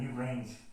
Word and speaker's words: Newgrange: And the new grange should actually be pronounced in French, should be la Newgrange.